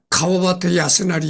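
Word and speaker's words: 川端康成: 여기 보면 천단 강성이라고 되어 있는데 한자로는 천단 강성인데 이제 일본 발음으로는 가와바타 야스나리 이렇게 되어 있습니다.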